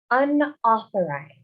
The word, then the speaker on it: unauthorized: Remember the AU, we pronounce like O, so unauthorized.